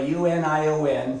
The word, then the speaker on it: Union: in north central Iowa uni o n pronounced Union and of course if you're listening this in Spanish you'll say Moo neon but I didn't have